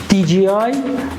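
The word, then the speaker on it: DJI: به نامه های مختلفی اسمشو میگن دیجیی دیج که دیج به نظر تلفظ بهتریه ولی دیجی رو من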